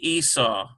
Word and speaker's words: Esau: Asa, and here's a V, Asav, A-E-S-A-V, which is really Esau.